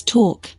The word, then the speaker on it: talk: foreign e in Native two what are the silent letters in these words science talk listen not o right wrong hours guess silent